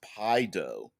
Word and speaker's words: Paizo: us a deadman says paizo's frequently asked question says it's pronounced pie dough i i didn't i